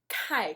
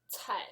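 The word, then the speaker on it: Cai: It's the same sound as letter combination TS, like in English, not a K. So when you pronounce name, like Kai, she gets very mad. Like a tsunami. I'm Tai, not Kai.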